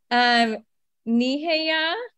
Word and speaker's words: Nehiyaw: side of Turtle Island, needing some help with pronunciation. Nehiyaw, you got it.